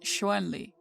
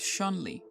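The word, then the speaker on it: Chun-Li: properly romanized as Shan Lee in pinyin and pronounced shoenli despite westerners commonly pronouncing it as shonly the Japanese rendering of the name is shuntrei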